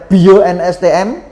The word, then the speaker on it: 8IO NSTM: Dengan Anda udah punya produk yang sekeren ini ya, sedahsyat ini, dan ini sekarang namanya 8IO NSTM, teman-teman bacanya Bio NSTM gitu.